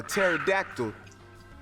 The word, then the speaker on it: pterodactyl: Why do you never hear a pterodactyl use the bathroom? Because the P is silent.